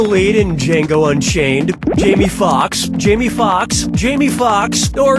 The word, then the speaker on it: Foxx: Jamie Foxx, Jamie Foxx, Jamie Foxx, or Jamie Foxx? Jamie Foxx's last name has 2 X's in it. The first X is silent.